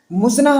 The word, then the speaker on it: مزنہ: اور آپ سب دیکھ رہے ہیں اسلامک نیم۔ مزنہ نام یہ لڑکیوں کے لیے خاص ہے اور